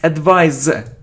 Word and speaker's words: advise: this word look okay it isn't advice it's advise Z it's a verb Z we pronounce it as you know the if it's